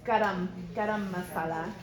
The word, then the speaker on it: garam masala: So garam masala. It's gam masala.